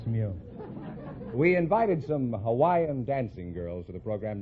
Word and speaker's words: Hawaii: Is that the correct pronunciation? I thought it was Hawaii. No, that's not right. Hawaii is correct.